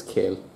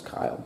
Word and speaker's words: Kiel: or I guess it's Kiel, because if it's, just in case you wanted the German lesson, if it's an E and an I and an E, whichever one's second usually is pronounced.